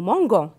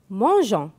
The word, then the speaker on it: mangeons: avec je mange ans si je n'écris pas eu je vais prononcer nous mango et c'est faux donc nous mangeons la même chose avec